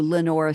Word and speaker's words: Lenoir: Tennessee River and into Lenor city which is Lenoir is how they spell it like the the French the black Lenoir the color and um there's not